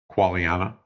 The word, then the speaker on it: Quagliana: Quagliana. The G is kind of silent.